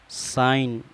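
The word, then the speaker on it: sign: का फायदा यह है अगर जी के बाद pain हो तो फिर जी हमेशा साइलेंट रहता है में चार मिसाइलें आपके सामने हैं मैं नेट माना मच्छर डिजाइन माना नक्शा बनाना साइन माना दस्खत रिसाउने माना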